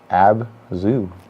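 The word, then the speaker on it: ABZÛ: Abzu. Yeah, it looks like Abzu. Because they made a point in separating the A, B, and ZU there.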